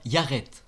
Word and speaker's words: iaret: est Urus en égyptien yaret il s'écrit avec l'unilitaire du roseau i de l'unilitaire du bras a un a long comme le a en arabe puis de l'unilitaire de